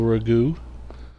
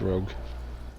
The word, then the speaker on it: rogue: Playing a human noble Ragu. Our Ragu is best Ragu. And yes, I know it's pronounced rogue.